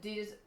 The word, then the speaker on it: Adidas: Please pronounce the German way. Oh my god. How is it? It's Adidas.